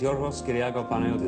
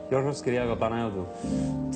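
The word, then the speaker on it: Yorgos Kyriacos Panayiotou: My name is Yorgos Kyriago Panayotou. That's really how it's said. It's wonderful. Yorgos Kyriago Panayotou.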